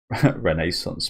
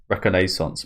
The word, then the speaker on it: reconnaissance: Renaissance mode. Reconnaissance mode. Reconnaissance is how you say it.